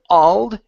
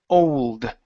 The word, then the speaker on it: old: Okay, this word here, we do want to pronounce the L. So it's, instead of old, it's old.